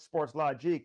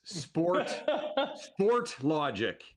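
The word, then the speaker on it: Sportlogiq: It's neither. It is Sport Logic. But we are from Montreal, so a lot of people will throw in the Logique, and that's cool.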